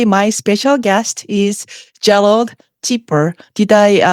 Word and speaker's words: Chipeur: Today, my special guest is Gerald Chipeur. Did I pronounce your name right?